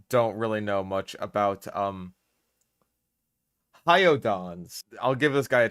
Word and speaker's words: Hyaenodon: Hyaenodon. It's literally a name with Don at the end. It's like he's the Don of hyenas.